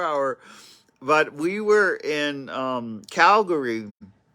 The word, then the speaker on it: Calgary: but we were in Calgary. That's how Americans say it, not Calgary, like the Canadians say it.